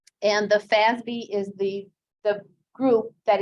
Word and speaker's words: FASB: financial accounting standards board fasb pronounced basby and the fazbee is the the group